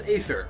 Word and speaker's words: Aether: What is Aether, or Ether? Both pronunciations are technically correct.